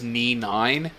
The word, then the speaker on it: NNY_IX: I'm still trying to change my username because the one I used for the longest time was NNY_IX, which is simply pronounced as Knee9.